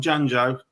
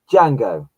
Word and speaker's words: Django: And the last one, Janjo, how do you say it? Simon, help me out. Django. There we go, Django.